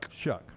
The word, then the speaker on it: Shough: Is it Tyler Shough? Is that how you say it? Shuck.